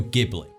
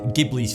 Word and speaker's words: Ghibli: Mediterranean from the Sahara; the Arabic word for the winds was mispronounced as “Ji-bli”, and ultimately became the Ghibli we know today.